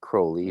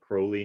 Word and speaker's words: Crowley: eventually got um some crowley crowley crowley whatever you want to say right if you think me holy if you think me holy call me crowley if you think me